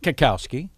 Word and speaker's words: Cackowski: my name yeah yeah i like kakowski it's fun to say it is a lot of hard k sounds yeah comedy cases comedy